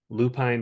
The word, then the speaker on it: Lupine: That's lupin like the flower. Lupin Yeah. like the flower. Okay. Lupin. I thought it was like Alpine is not Alpin, but yeah, Lupin.